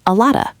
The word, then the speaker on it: a lot of: In spoken American English, we usually pronounce it as a lotta.